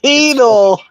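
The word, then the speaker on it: Cheatle: It's Cheadle.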